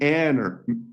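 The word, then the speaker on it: ἀνήρ: Okay, the Greek and Hebrew word, the word for man, ish, in Hebrew, and aner, like manner, rhymes with aner in Greek.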